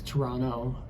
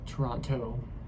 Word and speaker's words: Toronto: talked to U but they don't pronounce the T in Toronto so it's Toronto not Toronto uh they will probably